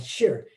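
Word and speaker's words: shih: about a concept called shir s-h-i-h i think it's uh uh they said it's kind of pronounced like s-h-a-r and i can't help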